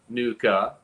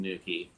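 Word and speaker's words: nuchae: guy in here that green depicts the ligamentum nuka as i've been saying it but i just learned that it's pronounced nukey i'm gonna keep saying nuka i'm sure for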